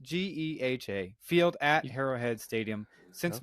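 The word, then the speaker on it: GEHA: tongue doesn't it G it's not g it's pronounced Gea field at heroad Stadium since March of 2021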